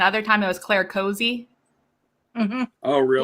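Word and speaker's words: Cosi: c-o-s-i u-s-i yeah and i'd always pronounced it cassie when i read it the first time but then she did pronounce it cozy and i was like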